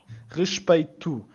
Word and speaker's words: respeito: We're starting with the guttural R again. So when we get an R at the start of a word, it's a guttural R always.